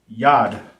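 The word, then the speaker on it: יד: Hand in Hebrew is pronounced yad, right? Yad. Hand in English is yad in Hebrew.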